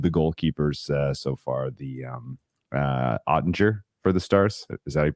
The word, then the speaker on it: Oettinger: And I got to say, of all of the goalkeepers so far, the Oettinger for the Stars, is that how you pronounce it?